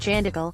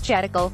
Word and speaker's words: Chandikal: Interestingly, Patnaik once is said to have pronounced Chandikal, a place near Cuttack, as Chatikal.